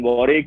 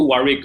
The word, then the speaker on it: Warwick: to you need to keep that w silent the second deal silence